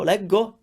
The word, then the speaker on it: leggo: What happens when you put an o after a g? It sounds go. So leggo actually makes sense.